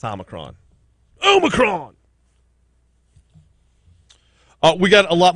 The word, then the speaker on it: Omicron: And yes, I will start pronouncing it the way she pronounced it. Omicron. It's Omicron.